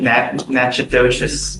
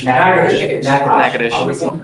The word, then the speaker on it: Natchitoches: You are wanted out of Louisiana, Natchitoches Parish. I butchered the pronunciation, but Natchitoches. Yes, What is it? Natchitoches.